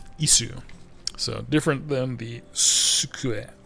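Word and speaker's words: いす: Notice that there's two different sus. There's a tsu which is a character and then there's an su which is a different hiragana character. Isu.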